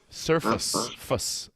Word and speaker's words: surface: yeah alien surface yeah it looks like surface face but it's not pronounced face it's pronounced fuss surface surface the surface the